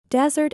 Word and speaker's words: desert: desert in the world dessert can also be a verb it sounds like dessert but it's spelled like desert it means to abandon or leave someone or something it's not right to